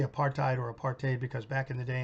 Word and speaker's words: apartheid: used to say well one rhymes with white and the other why rhymes with hate so Part A he rhymes with hate and apartheid rhymes with white thank god apartheid is